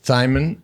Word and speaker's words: Thymen: It rhymes with Simon and another word that feels weird to say on air, but uh, Thimon uh, Addinsman second stage win uh, for him, second stage win for Inos.